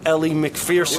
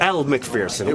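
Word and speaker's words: Elle Macpherson: The whole time, I didn't know it was over Ellie McPherson. It wasn't. Elle McPherson.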